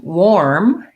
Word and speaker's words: warm: you could try pairing we wore something warm it's just like the word war plus m this is a great